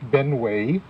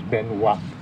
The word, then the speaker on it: Benoit: to mention is William Benway born in Vermont and the name that shows up on the recruitment records is a rough approximation of the French pronunciation of his name which is Benoit the second thing to